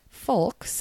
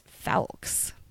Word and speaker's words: Falks: And the last name is not Folks and it's not Fowles. It's Falks.